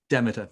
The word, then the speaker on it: Demeter: Is it Demeter or Demeter? Anybody Demeter. help? Go on. Demeter. Demeter, right. Demeter. So I do say it right.